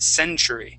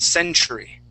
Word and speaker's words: century: so that uh um that t here is going to sound like a uh a CH okay try that Century Century there you go nice so yeah instead of pronouncing that like a t it it would then sound like a ch um the next word